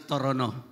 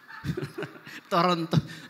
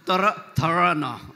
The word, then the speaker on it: Toronto: The right pronoun pronunciation daw is Torono. Toronto. Torono.